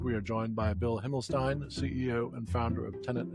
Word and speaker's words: Himmelstein: Himlstein. Um we had just talked about the pronunciation.